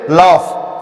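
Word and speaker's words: laugh: जैसे लाफ, क्या होता है? LAUGF, लाफ माने हंसना। जी का साइलेंट, जी यहां पे ग नहीं, ना तो ग बना ना तो ज बना।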